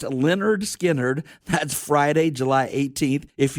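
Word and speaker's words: Lynyrd Skynyrd: Classic Albums Live perform Leonard Skinnard, pronounced Leonard Skinnard.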